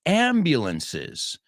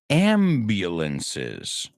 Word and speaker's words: ambulance: So the fourth emirate of Granada, the fifth was ambulances. Now, quiero que escuches como lo he pronunciado aquí. Ambulances. No es ambulance, it's ambulance. La U suena como U.